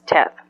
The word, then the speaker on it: Teth: the Hebrew alphabet is Teth. Tet or Teth, however you want to pronounce it, and I know there's probably a correct way of pronouncing it, but I'm saying Tet.